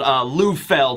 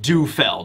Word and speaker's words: Lufeld: So his name is actually pronounced or spelled Lufeld, not Dufeld.